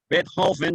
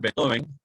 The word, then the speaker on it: Beethoven: Beethoven diría un alemán genuino. Aquí decimos Beethoven.